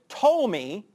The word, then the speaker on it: Ptolemy: And these two, the Seleucus and the Ptolemy, the P is silent, these two, which really